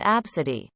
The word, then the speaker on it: ABCD: baby rifle pronounced rifle abcd pronounced absidy yeah several kids have